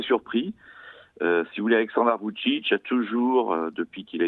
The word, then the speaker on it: Vučić: Alors, vous allez peut-être me reprendre sur la prononciation, c'est Vučić ou... Vučić. Vučić.